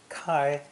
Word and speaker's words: 開: from across a door this idiogram is pronounced first tone kai kai is a simple